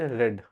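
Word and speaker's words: read: जैसे रीड रेड रेड हम लोग रेड प्रोनाउंस करते हैं। लेकिन लिखते उसको रीड ही हैं। जैसे अभी मैं यहां पे कहीं पढ़ाई लिख चुका हूं। लिखा हूं। यहां पर देखिएगा मैं रीड ही लिखूंगा लेकिन मैं प्रोनाउंस रेड करूंगा।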